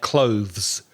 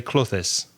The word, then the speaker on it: clothes: sounds like clothes so if you're having difficulty pronouncing that word clothes but do practice that because that's the correct way to say it if that's difficult for you just say clothes the problem with some Spanish speakers is that you make it two syllables and you say closest and that's wrong that's very confusing for